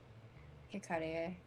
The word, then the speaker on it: Hikarie: So Japanese is that if you see an I, it is always pronounced I. If you see an A, it is always pronounced ah. If you see an O, it's always pronounced O. U is always pronounced U. And E is always pronounced E.